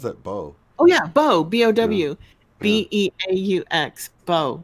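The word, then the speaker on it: beaux: When you spell bow, like B-E-A-U-X or something like that, it's like, how's that bow? Oh yeah, bow, B-O-W, yeah.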